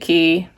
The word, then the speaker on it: Quay: of the water, and it's called West India Quay, even though it's spelled Quay. They pronounce it Quay.